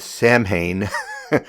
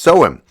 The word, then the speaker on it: Samhain: I would have said Samhain, but it's pronounced Samhain.